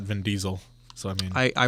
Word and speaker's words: Vin Diesel: to the guy who used to pronounce it vin de sel not Vin Diesel so I mean I